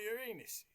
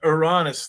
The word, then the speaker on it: Ouranos: to you about Aran you might get slapped if you say it wrong I want to talk to you about Urus if you call it oranus though people are gonna think you're being like ranus ranis ran us I mean that's that's